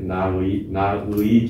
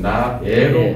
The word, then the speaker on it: 나의: 소유격 조사로 왔을 때는 어떻게 발음을 할 것이냐. 나의 조국입니다. 원래 나의 조국이 때로 나의가 들어가죠. 나의 조국, 우리의 사랑, 사랑의 이로가 맞아요. 그러나 발음하기가 쉽지 않기 어렵기 때문에 이때는 나애로 발음하는 걸 인정한다.